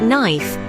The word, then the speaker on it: knife: for example in English K is often silent when it precedes the letter N at the beginning of a word words like knife KNE and no all feature a silent k a remnant of their Old English Origins another peculiarity is the